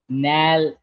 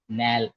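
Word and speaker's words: nälkä: The same wobbles comes two times. So the same the sound remains same. Nal nal it means hunger.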